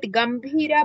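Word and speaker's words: गम्भीरा: in your PDF that gambhira bha alpa prana or mahaprana? Mahaprana only ma'am. Then you have to pronounce it as mahaprana only.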